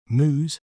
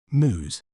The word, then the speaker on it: mousse: may pronounce it as moose moose the letter e at the end is silent moose moose is often enjoyed